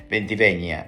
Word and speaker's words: Ventiveña: escrito por doctora Silvina venti venga ventiveña en realidad es la pronunciación también es un caso